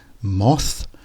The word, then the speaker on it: moths: itself here we have moths and moss so this shows the importance of getting the th sounds right at the end of the word Moss is like a